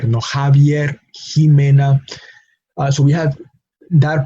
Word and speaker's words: Javier: Mexico, Javier, Jimena. No, and those Javier and Jimena are two names, proper names, sometimes spelled with a J, sometimes spelled with an X, but the pronunciation is Javier. No, Javier, Jimena.